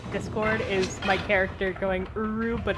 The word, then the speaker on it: Uru: That really is how it's pronounced? I love that so much. Uru.